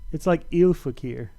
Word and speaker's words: Ilfakir: It's like Ilfakir. But I think it's funny. Just say that it's pronounced "I'll fuck her."